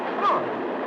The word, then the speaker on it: Freud: Freud. It rhymes with joy.